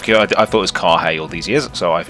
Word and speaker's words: Carrhae: So it's pronounced Carrhae, just out of curiosity. I thought it was Carrhae all these years, so I've immediately learned something new.